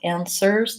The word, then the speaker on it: answers: starts with well app answers the W is silent and that final s in answers is a Z sound cast again vowel app